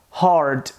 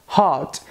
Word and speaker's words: hard: ficar ligado é que a gente pode pronunciar essa palavra como hard nesse caso se trata do inglês americano porque no inglês britânico a gente geralmente pronuncia Hot então a diferença é